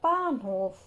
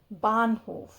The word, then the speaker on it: Bahnhof: The new entry here is of H in the middle of a word. So the sound is almost silent. Bahnhof.